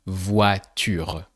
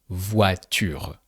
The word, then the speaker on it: voiture: A car is une voiture. So with o i, that sounds wa. A bit like the English what. So here, voiture.